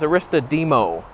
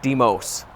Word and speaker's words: Aristodemo: Last name is Aristodemo, not Demos.